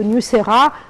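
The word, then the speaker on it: Niuserre: je l'ai bien prononcé, Très bien, Nusera.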